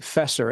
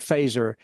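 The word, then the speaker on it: Feser: it it looks like fesser f ER like but it's pronounced phaser like the the weapon in Star Trek Edward faser uh and it's a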